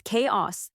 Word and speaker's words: chaos: It's chaos, not a dragon from a video game.